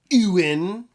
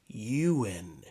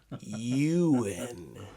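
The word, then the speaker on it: Ewan: It's not Ewin. It's not Ewin. It's Euan. Euan.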